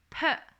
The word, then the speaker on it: peut: Okay, they all pronounces peut, but the spelling is a little bit different.